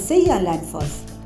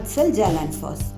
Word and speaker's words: Seljalandsfoss: For example, J is pronounced as Y. So it's Reykjavik, it's not Reykjavik. Similarly, it is Seljalandsfoss, not Seljalandsfoss.